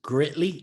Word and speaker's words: Gritly: wrong but that was through your current business greatly is that how it's pronounced yep yep for those who may never